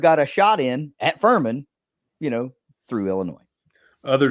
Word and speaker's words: Furman: going to be like, Furman. Huh. Yeah. You know, that still kind of like sticks in the craw a little bit, but it rhymes with vermin.